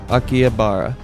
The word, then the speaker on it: Akihabara: are you talking about um how is it pronounced aara aara is what it's called aara AIA habara akih habara Japan yeah Akihabara it's the T it's got all kinds of